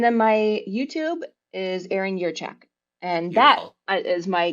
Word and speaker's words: Jurchak: Most people say Jurchak, but the J is actually pronounced as if it were a Y. Hmm. So it's Erin Jurchak.